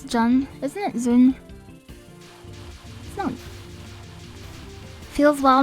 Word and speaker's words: ZUN: Maybe it is Jun. I thought it was Zun, but maybe I've been saying his name wrong. It is Zun.